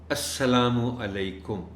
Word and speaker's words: السلام علیکم: الفاظ ہیں السلام علیکم، یہ درست بولیں، پورے بولیں، چونکہ عام طور پر ہم عادی ہیں سلام اس طرح کرنے کے، السلام علیکم، السلام علیکم، اب سلام کیا ہوا؟ تو یہ دیکھیں، یہ چونکہ سلام اس طرح کا یہ ہمارے مذہب کا حصہ ہے، تو پورا کہا جائے السلام علیکم، اور ان کو